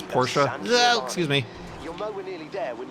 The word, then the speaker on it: Porsche: Porsche and I know I keep I keep interchanging between saying Porsche and Porsche I think the proper way to say it is Porsche excuse me nearly there